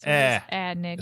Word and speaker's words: Aenigma: often pronounced like E or the A in cat. Eh. Oh, there it is. Aenigma. So it can be Enigma. Enigma. Enigma. Or it could be Enigma.